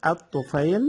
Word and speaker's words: al-Tufayl: It is the correct al-Tufayl according to the Arabic pronunciation. Also written al-Tufayl or Tufayl, Tufayl without I.